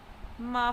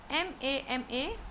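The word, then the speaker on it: mā: Ma for mama. G for gaga. Elder brother. Gaga. Mother. M-A with first tone. Mama. It is pronounced using a high level tone.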